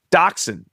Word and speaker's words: dachshund: The first one is dachshund. And that is, it's not, you can't spell that one phonetically.